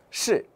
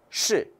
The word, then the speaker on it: 是: 계속해서 是. 是. 네, 是 는 지금 뭐죠? 권설음이고 사성이에요. 발음 주의하시고요.